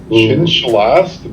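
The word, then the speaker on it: Xin-Shalast: Zing Shalast. Chin Shalast.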